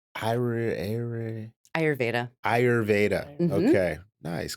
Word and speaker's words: Ayurveda: and Ayurveda Center. Mhm. Did I say it right? Ayurveda.